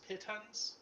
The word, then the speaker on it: pitons: Fuck me if I know how to pronounce this word. Is it pitons? Pitons?